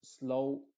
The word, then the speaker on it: slow: Y en la combinación O-W se pronuncia como una O original, es decir, como O. En otras palabras, la W no se está pronunciando, solamente se está pronunciando la O con su sonido original.